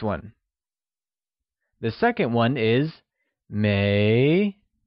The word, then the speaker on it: 没: The second one is mei, pronounced with a mid-rising tone. It is said as mei.